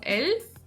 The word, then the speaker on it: elf: But in the German language the tongue stands vertically "elf", "Liste", "Lena". That is, we touch the palate with our tongue vertically and move on.